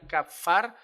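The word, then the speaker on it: כָּפַר: La palabra expiación o expiar viene de la palabra hebrea que se pronunciaría kafar. Así más o menos se pronunciaría, exactamente no será así.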